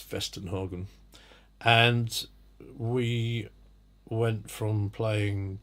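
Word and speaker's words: Westernhagen: was Weston Hagen spelt the W in English western Hagen but it's pronounced fest in Hagen and we went from playing mm C 2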